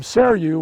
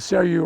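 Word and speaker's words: Seiryu: a a green leaf dissected upright tree form seru which is a tough one to spell it's s-e-i-r-y-u seru is one of the best and you're looking at cellu right now it has this sort of reddish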